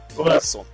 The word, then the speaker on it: Robinson: C'est assez particulier ça, Robinson. C'est comme ça qu'on prononce. Robinson.